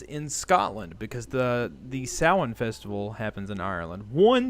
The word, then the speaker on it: Samhain: of that style yeah although we do say samhain in the west it is samhain mr hannah i think